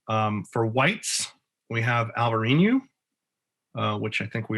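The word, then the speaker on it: Alvarinho: for whites we have alvarinu uh which i think we all know as elvarino in portugal it's probably not pronounced alvareen it's probably pronounced alvarino in bordeaux um but i always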